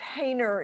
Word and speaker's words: Haner: so is correct haner is how my last name is pronounced haner so welcome to live